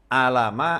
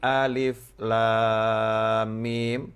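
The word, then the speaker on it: الم: Maka Allah tidak menyuruh Nabi Muhammad SAW membacanya alama atau alima, tetapi alif, lam, mim, atau alif, lam, ro di dalam surat Yusuf.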